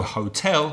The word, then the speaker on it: hotel: So hotel would be da. Hotel.